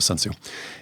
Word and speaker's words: Sun Tzu: And there's all kinds of people that argue how you pronounce his name, but I pronounce it Sun Tzu.